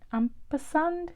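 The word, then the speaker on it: ampersand: really got this lovely Amper sand Amper sand is how you say it Amper sand um with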